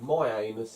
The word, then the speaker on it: Mianus: There's a town called My Anus in America. Is there? Yeah, it's spelled Mianus.